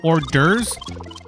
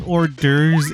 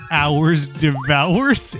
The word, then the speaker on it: hors d'oeuvres: class, ELA class, and he pronounced that phrase hors d'oeuvres as hours devours, and I will never